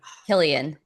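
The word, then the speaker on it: Cillian: Killian, what is it?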